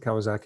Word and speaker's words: Kawasaki: So Kawasaki asks, I don't know how you pronounce it, Kawasaki, and I'm really sorry, but I really like that pronunciation. Rhymes with wacky.